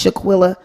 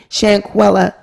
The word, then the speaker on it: Shanquella: the bill for this Shaquilla um I can't never say and pronounce her name so excuse me shanquella she footed the bill